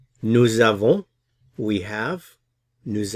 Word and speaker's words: avons: Nous avons, we have. Nous avons, notice the pronunciation here at the end.